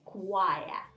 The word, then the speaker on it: choir: These are all words which came to English from Latin. That's why we say k here.